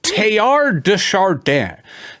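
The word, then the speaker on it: Teilhard de Chardin: a a an old school Jesuit scholar named tayar dardan first name is spelled t t e i LH I sorry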